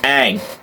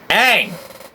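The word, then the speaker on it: Aang: Avatar as Avatar this is not how you pronounce any of these words it's Ang Ang Ang all right now I'm about to show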